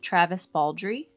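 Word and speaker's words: Travis Baldree: Kingfisher and Travis Baldry.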